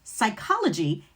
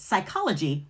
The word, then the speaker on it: psychology: For example, psychology is Greek in origin and has that silent P, psyche meaning mind in Greek. So in the English word psychology, the P is still silent.